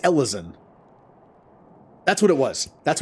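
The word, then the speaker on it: Elezen: was oh yeah it's Ellison that's what it was that's what it was it's pronounced Ellison right but it's a it's a play on like Elven Ellison Elven but the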